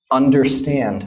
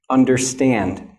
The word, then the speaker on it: understand: So for example, the word understand, okay? Now listen to the word understand. Understand. Which sound do you hear is the strongest, okay?